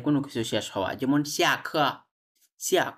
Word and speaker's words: 下课: 下课 হ্যাঁ, সিয়া খ নট সিয়ে, এটা উচ্চারণ কি সিয়া, সিয়া খ মানে হচ্ছে ক্লাস ইজ ওভার, ক্লাস শেষ।